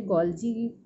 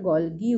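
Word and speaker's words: Golgi: এটি কোষের ভেতরে এন্ডোপ্লাজমীয় জালিকা, গলগি বস্তু, এখানে গলজি বলছে, আমরা গলগি উচ্চারণ করি, নিউক্লিয়াসের পর্দা, অন্যান্য পর্দা ঘেরা কোষীয় অঙ্গাণু গঠনেও সাহায্য করে।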